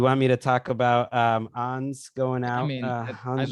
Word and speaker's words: Ons: It's a Ons, not Ons.